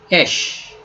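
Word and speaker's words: אש: So again, Aleph doesn't have sound, but Jere sound is a sound, right? So she, she, esh, esh, esh.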